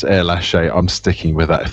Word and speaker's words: Erlacher: And then afterwards it was correctly pronounced as Erlache.